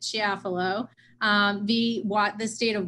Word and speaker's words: Chiafalo: case is to follow or as the chief pronounced it she affalo the wat the state